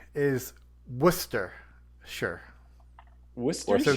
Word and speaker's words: Worcester: pronunciation is Worcester sh Wester so w Worcester w o s t r Wier sauce Wier sauce you you put too many syllables in there there there not warer